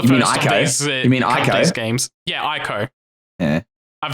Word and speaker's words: Ico: It's better than Eco. I do not know what that game is. That was the first of these. You mean Ico?